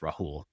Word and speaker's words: Rahul: I respond to both, but the original pronunciation is with the H, Rahul.